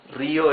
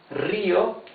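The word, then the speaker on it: río: As for Rio, Rio is river. Rio has the rough sound because the R R is at the beginning of the word. Rio.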